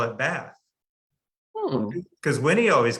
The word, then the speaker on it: Bath: Well, Edwina Trout was from Bath, England, and people from England always say it's Bath. And what I discovered was people who aren't from Bath call it Bath.